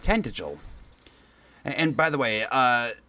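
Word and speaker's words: Tantegel: Please, you must make for tantra. You must do all that you can. Okay, so it's pronounced tant. The world rests with me. So, apparently it's pronounced tentigil.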